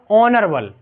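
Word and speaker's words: honourable: लेकिन यहां क्या होगा ऑनर बल क्या होगा ऑनर बल ठीक है ओनर बल ठीक यहां ए साइलेंट हो जाता है तो इससे पहले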